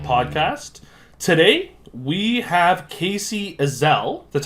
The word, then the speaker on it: Ezell: the Sager scribe podcast today we have Casey Iselle that's how you pronounce it correct yeah that's right writer of